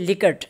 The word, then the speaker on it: Likert: 5-point Likert scale was used. Okay, some people pronounce it Likert and some Likert, so it's up to you.